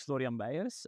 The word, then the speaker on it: Florian Beijers: My name is Florian Bayas.